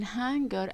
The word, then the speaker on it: hanger: There is a difference, guys, between hanger and hunger. Hunger with HU is about being hungry, but here we have HA, hanger.